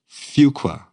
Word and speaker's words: Fuqua: life the Duke on the Fuqua did I pronounce that right the Fuqua Fuqua yes could you give us some more examples